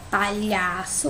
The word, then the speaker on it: palhaço: Palhaço, o mais forte é o lhá, né? Palhaço. Então, ele é a penúltima sílaba, ó. Só é a última, lhá é a penúltima. Então, significa que ela é uma paroxítona. Vou botar o número 2.